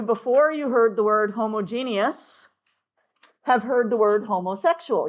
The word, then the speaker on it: homogeneous: The last part of this word is almost pronounced like genius. Okay, genius, except for we give it that extra syllable in the middle, genius. So homogeneous, heterogeneous.